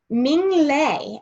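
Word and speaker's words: Minh Lê: can see the book i also had to look up how to say his name um ming lei is how you say it so i thought that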